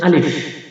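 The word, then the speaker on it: ألف: এখানে বাংলা লেখা রয়েছে চলুন আমরা এখানে আলিফ শিখি আলিফ এভাবে উচ্চারণ আমার মুখের দিকে তাকাবেন দেখবেন আমি কিভাবে উচ্চারণ করি আলিফ আলিফ এভাবে উচ্চারণ করবেন খুবই পাতলা তাই সংক্ষিপ্ত রূপ নাই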